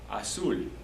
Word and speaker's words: azul: Azul, azul. A-Z-U-L, accent on the U.